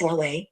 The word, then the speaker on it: Huawei: While most consumers in the US don't even know how to pronounce Huawei, it's Huawei. Its brand is well known